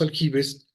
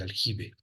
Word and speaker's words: aljibe: En árabe clásico o estándar se dice como se yub, al yub originalmente, pero en España, o bueno, lo que posteriormente fue España, se pronunciaba como ge, ¿vale? Ese es el aljibe.